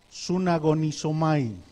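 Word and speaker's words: συναγωνίζομαι: Y la voy a pronunciar porque esta palabra tiene mucho de significado en español. La palabra es sunagonizomai.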